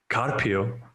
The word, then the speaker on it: Carpio: Well, you always pronounce my name like that. Carpio. Is it not Carpio? It is. I just like how you put like so much emphasis on it. I want to say it correctly.